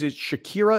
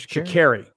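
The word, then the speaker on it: Sha'Carri: Her name is Shakira. Is that how you say it? Yeah, Shakari. Isn't it Shakari?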